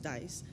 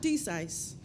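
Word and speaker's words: DCISE: collaborative information sharing environment pronounced dice not decice I really hate when people say desise in June of 2008 as a contractor I became a civilian in April of 2019.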